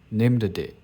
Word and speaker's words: named: The name named comes from name. Daemon, we can pronounce it as named.